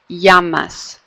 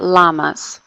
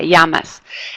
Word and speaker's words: llamas: It sounds like a Y. Yeah, llamas, not llamas, right? Like an L. It's like a Y, llamas.